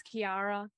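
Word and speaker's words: Ciara: um it's so nice to meet you there's Kiara Cara yeah the key c-i-a-r-a-k-i-a k-i-a or cias um is pronounced differently fun facts you know when your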